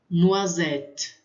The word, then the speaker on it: noisette: Quando tem o S no final, eu não pronuncio, mas ele vai dar um som para o E. Porque normalmente o E fica no final, a gente quase que não pronuncia. Mas aqui ele fica um pouco mais presente, então fica noisette. A U tem som de O.